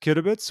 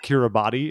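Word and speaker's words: Kiribati: did an article called how to pronounce kidabits which reads like kira body if you've seen it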